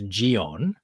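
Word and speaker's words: ジオン: it is an unfortunate coincidence, because in Japanese it's Gion, Mm, and what I have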